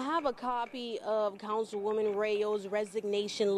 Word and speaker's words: Reaux: Serving as an elected official a short time, Thursday morning, Rayo announces her resignation. R-E-A-U-X. If you're from Louisiana and you know how to spell that, it's embarrassing. R-E-A-U-X. It's like go.